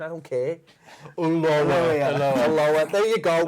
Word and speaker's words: Ulloa: But it's not spelt like that, so therefore it's not the pronunciation. I don't care. Ulloa. There you go. Ulloa.